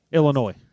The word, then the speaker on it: Illinois: Illinois. How do you say it? Illinois. Illinois. Illinois. The S is silent.